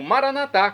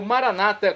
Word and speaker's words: Maranata: E agora eu clamo Maranatá, como dizemos nós católicos, ou Maranata, como dizem nossos irmãos separados, os evangélicos ou protestantes. Não importa, a pronúncia e o significado é o mesmo.